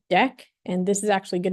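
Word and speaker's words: deque: e um this thing this word is pronounced deck and this is actually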